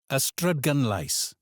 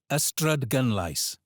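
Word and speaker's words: Ystradgynlais: The stress here is on gun. The Y at the start is a schwa sound like and cun becomes gun. Say it with me again. Ystrydgunlais.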